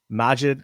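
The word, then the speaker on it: Maajid: clear mind and like that's how you say his name majid magid majid i asked him either i've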